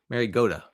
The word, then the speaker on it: Mariota: Mariota is actually the pronunciation.